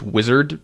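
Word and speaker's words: Uizard: are probably framers and uh it's called It's pronounced wizard but it's spelled you Izard those are the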